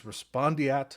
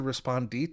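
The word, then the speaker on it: respondeat: they call respondent superior, which is not the actual term, the correct term, it's Latin. It's respondiat superior. I've heard it said respondit superior, but I don't think that's proper Latin pronunciation.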